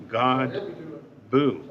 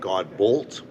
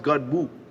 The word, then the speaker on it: Godbout: with a gentleman by the name of God Buu that's how you pronounce it yeah well that's what I thought